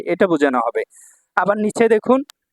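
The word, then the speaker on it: 度: ভাইয়া এখান থেকে কাঞ্জি পরীক্ষায় থাকবে ইনশাআল্লাহ তারপর দেখুন 100 নাম্বার যে কাঞ্জিটা এখানে 100 এটা হল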